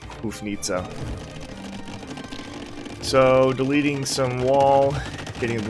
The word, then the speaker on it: Houfnice: how you say it it looks like it's nice but i i looked it up on google before i can tell it's pronounced more like hoof nita um feel free to correct me if i'm wrong but i'm going to call them hoof nitsa so deleting some wall